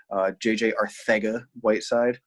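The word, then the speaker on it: JJ Arcega-Whiteside: JJ Arthega Whiteside. No, I don't have a lisp. That's how he pronounces his name.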